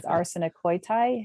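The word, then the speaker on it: ἀρσενοκοῖται: Now I'm probably going to mispronounce it, but the way I pronounce it is arsenokoitai. How do you? Yeah, that's right.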